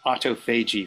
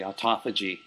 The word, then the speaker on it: autophagy: university of michigan that uses autophagy for example and uh and then at um albert einstein they all always say autophagy and uh so i think take your pick use either one i'm gonna use both there you go guys referee